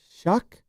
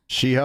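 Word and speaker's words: Shough: Tyler Shuck. Sheho, I think. No, it's Shuck. I think it's pronounced Shuck, but it's But it looks ridiculous.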